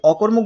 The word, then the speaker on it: অকর্মক: কি হচ্ছে এখানে হচ্ছে এই অকর্মুক বানানে এই অটা ও এর মত উচ্চারণ না হয়ে এই অ এর মতই উচ্চারণ হচ্ছে কেন হচ্ছে দেখো যদি